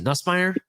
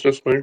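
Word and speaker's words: Nussmeier: Nusmeer. Yep. It's Nusmeire. Yep. Yeah. Um I I'm not really good at pronouncing names, so I apologize.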